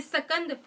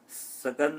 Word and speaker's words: स्कंद: हे पार्थ, मैं सेनापतियों में सकंद और जलाशयों में समुद्र हूँ। सकंद नहीं है वो, स्कंद।